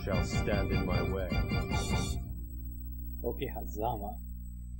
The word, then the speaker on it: Okehazama: Okehazama. The accent is on the za.